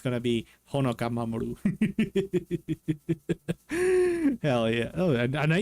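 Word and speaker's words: 守: The kanji for protection or to protect, which is this one, which is Mamoru, and the kanji for earth, as in planetary earth or as in space.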